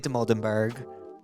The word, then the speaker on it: Dimoldenberg: Today we have the legend Amelia Demoldenberg.